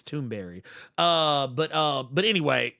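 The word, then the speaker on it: Thunberg: Basically, kind of becoming like a Greta Tunberg or or actually I've come to find it's actually not pronounced Tunberg. I think it's Tombberry.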